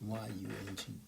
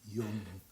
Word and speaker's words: Jung: It's spelled Jung, but it's pronounced Yung, Jung.